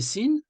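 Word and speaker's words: سين: viens descendre hop donc sin son nom c'est sin le mot sin signifie également en arabe la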